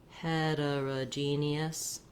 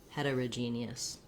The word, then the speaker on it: heterogeneous: homogeneous and heterogeneous um you can hear how i did reduce that though that o becomes a schwa for both of these words for all three different